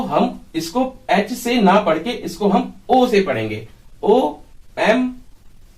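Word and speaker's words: homme: उसको हम फ्रेंच में ओम बोलते हैं हा साइलेंट है ओम एक बात और है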